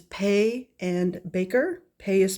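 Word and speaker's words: Paye: uh PB and B which is pay and Baker pay is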